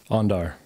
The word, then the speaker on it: Andar: Pronunciation, say it for me. Andar.